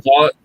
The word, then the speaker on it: Voight: sorry, I said Vaughn. Yeah, Voight. John Voight. Yeah. Is that how they pronounce it? Voight? I think so. I think. Yeah, I think you were right. I was wrong. I said Vaughn.